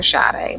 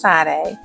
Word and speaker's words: Sade: Miss Sade Adu some people also call her shade but it's pronounced Sade Sade is a Grammy winning artist who has